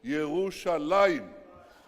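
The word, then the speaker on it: ירושלים: It says, it doesn't say Jerusalem, it says Yerushalaim.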